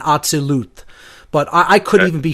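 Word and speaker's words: Atziluth: Slightly off on the pronunciations, but I'm not going to, hold it to that, level of specificity. I would say if I were to give the correct pronunciations as closely as I know them to be, it's Asiyah, Yetzirah, Bria, and Atzilut.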